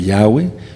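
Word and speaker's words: Yahweh: inglés dice señor lord pero si quieren pronunciar lo correcto sería y crecía la palabra de yahwe y el número de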